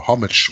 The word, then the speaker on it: homage: Neil in Homage, or homage. What is that? How do you say that in English? That's homage. Yep, that's right.